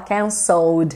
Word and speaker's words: canceled: cancel cancel E aí no passado a gente só coloca o Ed mas não pronuncia Ed a gente fala cancel só o desinho que vai